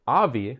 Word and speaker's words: Avi: Also, our friend, it's not Avi, but Avi, we got the Avi and Avi, but this is both spelled the same way, AVI.